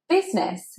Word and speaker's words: business: I've heard this word mispronounced many times, but in fact it is just business, just two syllables.